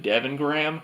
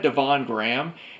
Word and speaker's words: Devon Graham: That Devon Gramps video, I actually mispronounced his name in part 1. I pronounced it Devin Graham, and then when I watched his video of his Evil Dead collection, he had a clip from Halloween of Linda saying, "Hey, isn't that Devon Graham?"